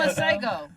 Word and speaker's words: Masego: know how to pronounce his name. Maciego, Maciego. Miguel. Oh, no. No, it's not Miguel. No. McDonald's? It's Masego.